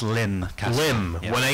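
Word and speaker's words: Lympne: If you look in the book, we do actually put, in parentheses, Lim. Pronounced Lim, yeah.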